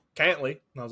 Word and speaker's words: Cantlay: I did the same thing, and then I was watching it last year, and they were like, Cantley. And I was like, oh, okay. Cool. Yeah, but it's pronounced a little bit different.